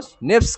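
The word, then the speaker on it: SNPs: इन point को कहते हैं एसएनपीएस, single nucleotide polymorphism, एसएनपीएस, single nucleotide polymorphism, pronounce as निप्स, इनको स्निप्स कहा जाता है, स्निप्स कहा जाता है, और यह सिंगल न्यूक्लियोटाइड पॉलीमॉर्फिज्म है।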